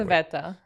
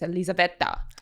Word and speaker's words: Elizaveta: I always introduce it because it's Russian, but it doesn't sound Russian. So I say, I think Elizabeth, but like with an Italian accent. So it's Elizaveta.